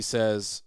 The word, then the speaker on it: Tso: yes yes he says General Tso cuz that's how sa is spelled TSO with an apost he says